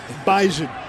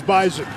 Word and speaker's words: Bison: It is pronounced Bison. Always get a few people wondering during every broadcast, why can't you guys pronounce Bison correctly? The correct way to say it in Fargo is Bison.